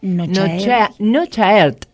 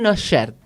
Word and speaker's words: Cnochaert: Muy bien, lo presentamos, bueno, Nochaert, ¿no es cierto? ¿Así está bien dicho? Se pronuncia bien, es un poco difícil. Es difícil. La primera C es muda y la T del final también. Nochaert, ¿ahí está bien?